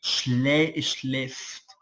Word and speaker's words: schläft: Acuérdate que en alemán con la diéresis, es decir, con los punticos arriba, suena como una e abierta, como la e de nosotros. Por eso se pronuncia e, schläft.